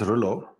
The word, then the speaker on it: Roelof: Uh if you want to know how to pronounce ruler, I always tell people to think of rule of thumb. You know, rule of thumb. So this would be ruer thumb and then just take the thumb part away and then you got the perfect pronunciation.